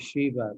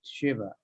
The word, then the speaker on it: Shiva: Yeah, that's, I guess, not really important, but everybody says Shiva, but it's Shiva.